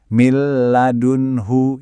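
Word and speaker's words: من لدنه: Min ladunhu dibaca langsung bablas. Jadi millun hu lugus banget kan? Enggak boleh ditahan. Jadi mladunhu.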